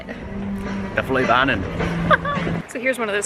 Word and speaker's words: Fløibanen: The Fløibanen. The Fløibanen.